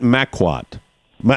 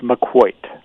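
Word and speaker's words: Maquoit: you my pronunciation first I called it Mac want my or Makua what is the pronunciation of the of the island its McCoy I blew it maq uoit opposite right is that the correct spelling that's obvious in McCoy all right I gotta get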